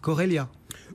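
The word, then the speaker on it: Chorélia: Bref, Corelia. Pourquoi pas, mais cela dit, pourquoi ne dirait-on pas Chorelia? Alors certes, d'un côté, le C-H-O peut se prononcer co, comme dans choriste, mais il peut aussi se prononcer che, comme dans chômage, ou par exemple dans professeur Choron, on disait le professeur Choron et pas le professeur Coron.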